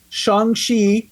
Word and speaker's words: Shang-Chi: Shang-Chi is how you say it, first of all.